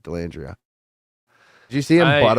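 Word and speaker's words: Dellandrea: end on D alandria how do you say his name Ty delandria delandria that's how you say it delandria did you see him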